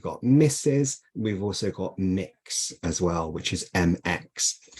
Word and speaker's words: Mx: We've also got Mix as well, which is mx I think I'm pronouncing it correctly. I think I would say mix But other people may choose to pronounce it in a different way.